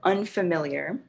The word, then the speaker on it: unfamiliar: that word unfamiliar and think how many beats are in the word how many syllables unfamiliar unfamiliar you should have four unfamiliar so four syllables and the stress is on the third syllable unfamiliar so that's really